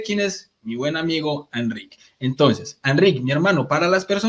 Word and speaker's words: Enric: Entonces, en catalán tenemos lo que se llama la vocal neutra, que es una es algo que está entre medias, entre una a y una e. Entonces se pronuncia enric Pero no pasa nada si lo pronuncias Enric.